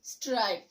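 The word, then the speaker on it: stripe: দেন এসটিআরআইপি, স্ট্রিপ, এসটিআরআইপি, স্ট্রিপ, এবং এসটিআরআইপিই, স্ট্রাইপ। So vowel ই ছাড়া উচ্চারণ হচ্ছে স্ট্রিপ, এবং ভাওয়েল ই যোগে উচ্চারণ হচ্ছে স্ট্রাইপ।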